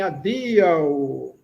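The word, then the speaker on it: adiaŭ: Adeus opa vocês vão se despedir de alguém adeus veja como se pronuncia a sílaba forte é no i. É a penúltima sílaba. Adeus. O é um fraquinho adeus.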